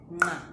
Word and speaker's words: nqa: pronounce the Ndebele click nga. So this is the N and the Q brought together. Let's do this together. Nga, nge, ngi, ngo, ngu. All right. So yeah, you do it with your tongue, this particular sound.